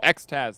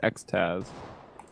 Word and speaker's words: XTQZZZ: Oh, XTaz, thank you. Nice. on Twitter. You can pronounce XTQZZZ as XTaz.